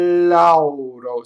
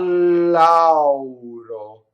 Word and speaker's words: lauro: So al lauro, so double L and the A, and you have to say a u auro. So you have to go. This is a big journey for our American mouths to do that. You have to say all of the a. You have to get all of the u. It goes all the way around. Right? Notice that the R is flipped and that the final O is closed because it's not on the stress.